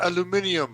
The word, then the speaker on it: aluminium: chase says something aluminum and he goes it's pronounced aluminium and they're like you see he's fine you